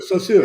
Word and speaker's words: Saussure: Ferdinand de Saussure, is that how you say his name? So Saussure? sure, so sure. Yeah, Yeah, right. Saussure. Yeah, yeah.